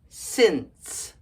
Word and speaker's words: since: Our first word is S-I-N-C-E. Since. Since. The C and the E make a S sound because the E makes the C soft.